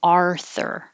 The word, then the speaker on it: Arthur: ah author and 48 you curl your tongue back arthur arthur schedule schedule and gee